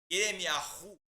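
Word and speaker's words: Yirmeyahu: Não tem J no hebraico. Você sabe como é que fala Jeremias? Yeremiahu.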